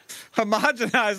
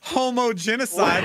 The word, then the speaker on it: homogenized: Homogenized, not homogenicide.